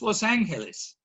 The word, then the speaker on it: Los Angeles: angeles los angeles and i checked with our resident spanish experts on how the spur gringo is to pronounce it it's los angeles the full name of